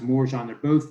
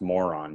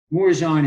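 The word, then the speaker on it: Morejón: With this situation, I think it is pronounced Morjan.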